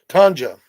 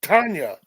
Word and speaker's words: Tanja: How do you pronounce Tanga? Tanja. Tanja. I was saying it wrong. Or in America, we'll say Tanya.